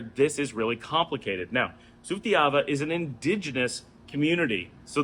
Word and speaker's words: Sutiava: get used to that those are interchangeable and it does not change the pronunciation of the word sutyava is a great example of where this is really complicated now sutiyava is an indigenous community